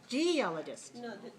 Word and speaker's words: geologist: let's try that again do we have we have four syllables right geologist all right so which one is it all right if it's first one to realize geologist no how about this one geologist that's the second one and how about this